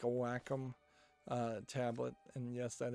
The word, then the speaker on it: Wacom: be what you would want is like a Wacom uh tablet and yes that is how you actually pronounce that word um hmm but yeah building